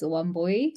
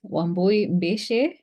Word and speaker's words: Wambui: to you please hello everyone my name is woy I know it's um a bit difficult to pronounce woy um from Kenya and I am really happy